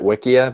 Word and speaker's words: Wikia: I pronounce it Wikia because it's a wiki.